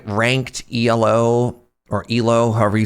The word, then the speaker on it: Elo: It's pronounced elo since it's named after a person named Aprad.